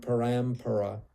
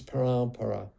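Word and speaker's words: paraṃparā: That M should have a dot below it, sorry, or above it, either way, it's printed. Then that annotation means that you don't pronounce it as an M, you pronounce it as a nasal, you nasalize the preceding vowel. So this isn't parampara, it's parampara. The A gets nasalized.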